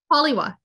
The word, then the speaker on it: Halioua: pronounce my last name how do I pronounce it properly pollywa literally nobody can I couldn't spell my full name until I was in Middle School because it's it's half German half Moroccan and so if you can spell or have the in State for the spelling or pronunciation on one half you screw up the other half royalty but I had